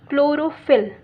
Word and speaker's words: chlorophyll: It is pronounced as chlorophyll.